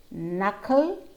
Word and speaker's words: knuckle: Knife, knot, knowledge, knack, knuckle, knob, net. So let's go back to that sentence. I know you knocked your knee while kneading the dough. All those letters with a silent K.